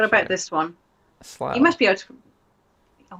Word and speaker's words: Slough: But I will note that with this word slough, you are pronouncing all the letters. And then you, ow. O-U-G-H, ow. The GH is g, ow, g, oh. It works. You're hitting all the letters. It's not like it's pronounced sl. That would be dumb.